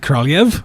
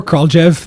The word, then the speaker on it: Kraljev: name is and my last name is pronounced at car live or call Jeff my family within my